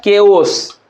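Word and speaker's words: chaos: लेकिन देखिए इसका मतलब होता है के ओस क्या होता है? यहां पर हम लिख देते हैं। ठीक है? इसलिए इसका उच्चारण सी एच का मतलब क्या उच्चारण हो गया? क हो गया।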